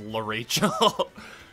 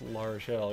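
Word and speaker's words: L'Arachel: When I first played Sacred Stones, I thought her name was La Rachel. I didn't even know how to pronounce her name when I first played Sacred Stones. Well, apparently it's La Rochelle.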